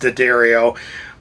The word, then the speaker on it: D'Addario: were talking about earlier however you want to say it although it is pronounced d'addario but uh like i